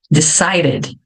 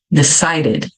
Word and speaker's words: decided: Called mas existem exceções se um verbo termina com a letra d ou t então eu vou pronunciar levemente o e nesse caso termina com